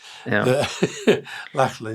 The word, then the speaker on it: Lachlan: Lachlan, is that how you say it? Lackey. Lachlan, yeah.